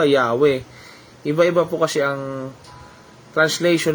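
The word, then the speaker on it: Yahweh: Sabi ng modern English translation, Yahova daw po. Pero alam niyo po bang sa original Hebrew language hindi po to mabigkas-bigkas nila. O sa mababaw na translation ng iba Yahwe.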